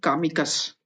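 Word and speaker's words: комикс: तो ये कामिकस, पर इसको कॉमिकस, पर इसको बोलेंगे कॉमिक्स। कॉमिक्स जो स है कि जो स का जो साउंड है वो कम हो गया है।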